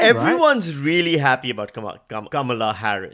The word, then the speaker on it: Kamala: really happy about Kam Kamala Harr right I actually check the pronunciation based on how she wants to be pronounced apparently it's Kam and everyone's really excited